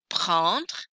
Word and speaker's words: prendre: Here's how you pronounce it. Prendre, prendre, je prends, tu prends, tu prends, il prend, elle prend, on prend.